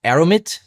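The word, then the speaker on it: aramid: It's pronounced aromit and not aromite as I said in my intro.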